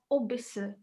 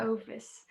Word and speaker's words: oVice: So you have to be, I mean, I couldn't even pronounce it first because you said it's Ovis. I thought it was all Ovice as well. Right? So which then could lead to you thinking. So I know that they pronounce it as Obis, not Ovis.